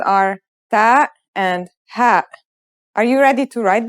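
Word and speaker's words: ه: letters are ta and ha are you ready to write them then let's go let's start with our first letter this letter sounds just like the english h and it should be very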